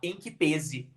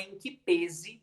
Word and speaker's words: em que pese: assim como voz também dizem que a pronúncia é fechada com som fechado então é em que pese e não em que